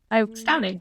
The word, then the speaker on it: Stauning: Because, of course, your first bottling was with, I might pronounce this wrong, but a distillery in Denmark called Stauning? Stauning, yes.